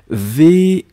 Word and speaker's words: vis: VIS, nous sommes d'accord, je vis, hein, on ne prononce pas le S final.